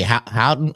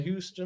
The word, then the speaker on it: Houten: Oh, you say Houten? Houten, yeah. Houten. I didn't know how to pronounce that. I was saying it a whole different way, dude. Houten, Houston.